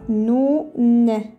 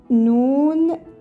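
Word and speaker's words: نون: prononce comme ça noun pardon je vais la crire en français pour savoir comment ça se prononce ça fait noun comme ça on prononce cette lettre ça se prononce noun noun voilà alors on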